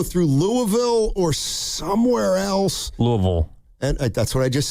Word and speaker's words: Louisville: Louisville. And that's what I just said, Louisville. You pronounced the Ville.